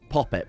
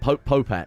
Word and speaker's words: Popette: Poppet, but Popette. You have to, that's how it's pronounced.